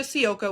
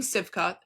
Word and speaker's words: Sivka: Reese, Camila Cardoso, Aisha Sioka, which I know everyone's saying Sivka. Her name is Aisha Sioka. That's how you say her name.